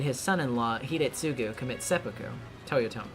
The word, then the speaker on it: Toyotomi: Totoyomi Hideyoshi made his son-in-law Hidetsugu commit seppuku. Toyotomi, yeah, I did pronounce that right, yeah.